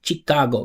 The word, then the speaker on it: Chicago: Chicago sh. It's not cheat. We do a whole class on this. Not Chicago. Chicago. It's sh. So it sounds like this. Sho, right? Chicago, not Chicago.